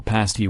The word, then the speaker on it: pasty: a handle the humble pasty witch perhaps unfortunately rhymes with a nasty rather than etasti today receives special designation